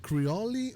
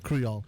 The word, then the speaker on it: Creole: and and cuiol haitian creole yes is it creoli or creole creole okay so i'm gonna take advantage of you